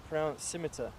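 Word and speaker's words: scimitar: we were talking about it's actually a silent sea yeah I keep forgetting that one thanks Rob scimiter symmetry yeah thank you rob each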